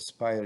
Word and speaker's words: Aspire: you click on Spire, and Spire is spelled as A-S-P-I-R-E with a silent A, and open an existing file.